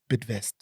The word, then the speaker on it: Bidvest: I remembered how Brian Joffy set up Bidvest. Okay. Bid as in to bid. Yes. And to invest.